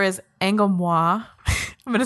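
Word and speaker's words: Angolmois: And I've heard that Angomwa is the correct pronunciation. Like, I looked at like the Japanese kanji, and it's like Anguromwa or something like that.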